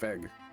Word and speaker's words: Weg: They have what's called Weg, which is like the horns, but that's German for travel and it's pronounced Weg. So I wonder if it was an intentional decision to not use the German W sound.